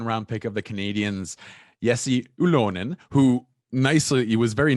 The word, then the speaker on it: Jesse Ylönen: my guest second round pick of the canadians yessi oolon who nicely he was very nice and he taught me how to pronounce his name so um thank you yesi